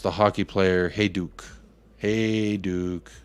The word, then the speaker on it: Hajduk: That's how we pronounce the hockey player Hajduk. Hajduk.